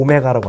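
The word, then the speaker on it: ω: 이거 오메가라고 읽어야 돼. w는 이게 이게 양옆이 좀 벌어지는 거고 오메가는 이렇게 오므려야 돼.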